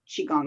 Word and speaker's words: qigong: same however i say i say qigong shigang is kind of a little combination of both so qigong so we start